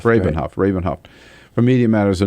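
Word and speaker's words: Rabin-Havt: David and um Ari Robin Hof from I pronounce that correctly yeah rabenhof rabenhof rabenhof for Media Matters a new book out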